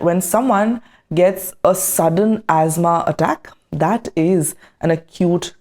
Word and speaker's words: asthma: For example, asthma is a chronic respiratory condition. The pronunciation is not ama or aama or whatever. The pronunciation is asthma.